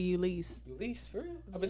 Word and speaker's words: Ulysse: with our very, very special guest, Miss Ulysse. How you feeling, mama? It's actually Ulysse.